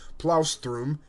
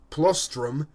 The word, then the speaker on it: plaustrum: criticized by florists for pronouncing the word plaustrum a wagon in provincial fashion plastrum he addressed Flores on